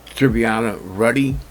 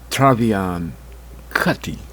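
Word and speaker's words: Trevian Kutti: what is it uh trivia ready hey gotta make a quick correction I mispronounced the woman's name her name is actually Travian Kati that's her name that's the correct name so don't sell me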